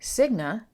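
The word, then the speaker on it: Signe: a bit of territory siga I believe that's how you pronounce that s i g n e her husband AA ASLA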